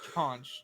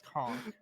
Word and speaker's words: conch: Okay, first of all, it's conch, not conch. Well, depends on where you at.